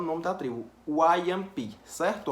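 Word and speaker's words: Wajãpi: só que se fala Wayampi, que é um idioma deles. Então, o nome dessa tribo não se fala Wajampi, não, Wayampi, Wayampi, Wayampi. É engraçado, mas é o nome da tribo, Wayampi, certo?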